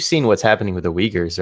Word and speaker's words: Uyghurs: like you you've seen what's happening with the uyghurs right in china and the south west china's excuse me the what the uyghurs oh okay yeah uh that's how you like yes that is how you pronounce it i've been saying that wrong for